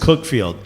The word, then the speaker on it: Cuckfield: He ain't at Cuckfield, said Nick Red. Shouts to Cuckfield. Real team. Cuckfield. They pronounce it Cookfield.